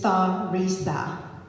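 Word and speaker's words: Theresa: unusual first name and no it's not Terry it is thaisa t h e r e SS a yes two s's just to make it extra special complicated um no one could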